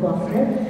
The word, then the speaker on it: Gloucester: Don't let all of the extra vowels and consonants in the title fool you. It's pronounced Gloucester.